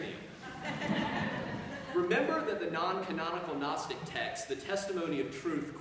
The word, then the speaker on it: Gnostic: for to know and has a silent G so it's Gnostic just like we have